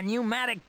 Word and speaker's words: pneumatic: A pneumatic drill. That's the word. It's always a fun one to try and pronounce considering I believe it starts with a P, but that letter is silent.